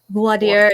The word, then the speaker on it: voir dire: So in Texas, we pronounce it voir dire. Voir dire. And then that's fine. Other parts of the country, they put more French into it. Voir dire. Voir dire and voir dire.